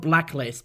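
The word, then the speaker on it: BLK LST: up here and there they're called Blacklist but they spell it BL K LST and they've appeared on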